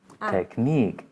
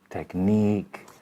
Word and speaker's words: technique: in in and then you have the e as in technique which is a long one and sometimes it's pronounced